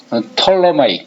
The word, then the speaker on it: Ptolemaic: Copernicus thought in the 16th century on a relatively minor problem concerning the geometry of the 이 발음할 때 피자 발음하지 마세요. Ptolemaic, 다 같이 읽어보자. Ptolemaic.